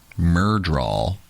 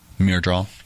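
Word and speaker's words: Myrddraal: flipping through the um just realized I've been pronouncing mydraw wrong this whole time it's not yes you have been how have you been pronouncing it Mir draw Mir draw it's yeah it's my draw I'm looking at the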